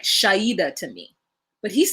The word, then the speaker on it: Shaeeda: Girl, I don't know how they're Shaeeda is how they're pronouncing it.